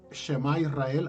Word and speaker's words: Shema Israel: ¿Cómo se pronuncia, pastor? Shema Israel, Adonai Eloheinu, Adonai Echad.